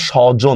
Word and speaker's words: স্বজন: তাহলে right answer কোনটা হবে রাইট আন্সার হবে স্বজন দেখেন স্রধ্বনির পরে অ থাকার কারণে এটা কিন্তু